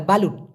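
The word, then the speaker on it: belut: দেয় সেটাকে বলা হয় বালুট অথবা একটা খাবার আপনি পলিথিন দিয়ে মরাইলেন ওটাকে বলা যেতে পারে বালুট আরেকটা আছে বালুট বি এল ইউ টি হবে উচ্চারণটা হবে বেলুট বেলুট মানে কিন্তু আবার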